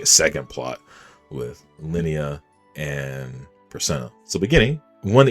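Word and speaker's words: Linia: Lineia. I'm sorry. I keep saying Lilia. Jesus Christ. Lineia.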